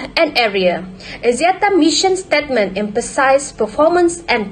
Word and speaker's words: Axiata: Axiata multi-dimensional prime symbol is pronounced Axiata.